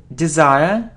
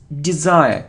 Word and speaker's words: desire: It isn't desire or desire. It's desire. E. Desire. So it isn't.